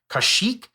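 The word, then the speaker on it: Kaushik: Google can't say his name it's it's a kashik so a y i n a and then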